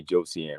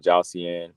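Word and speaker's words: Josiane: this episode I got I gotta say Josie and right I've been saying jossian but um I guess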